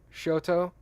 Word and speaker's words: Choctaw: read that read that show toe oh that's true that's how you would pronounce that tribes name good polite sorry Kathy